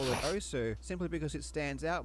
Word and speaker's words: osu!: The official pronunciation is OS, as confirmed by the developer.